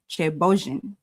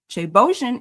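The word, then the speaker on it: ceebu jën: It's actually pronounced chebojin. So chebojin is Senegal's national dish and the original ancestor of West African jollof rice.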